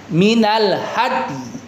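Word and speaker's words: من الهدي: Dalnya kasih qalqalahnya dulu ya. Ya, uhirumar minal hadi. Ya, jadi kasih ee apa namanya? Kasih ee isyarat dengan meringis bibirnya ya teman-teman di jadi kita baca Albaqarah 196. Minal hadyi yang diwakafkan silakan minal had. Jadi dalnya qalqalahin ya ee kita isyaratkan dengan bibir yang meringis.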